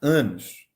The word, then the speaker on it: en: Só que a pronúncia é an.